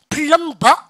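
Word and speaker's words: plumber: 그 다음에 이거 발음해보세요. 어떻게 합니까? 플럼버 혼납니다.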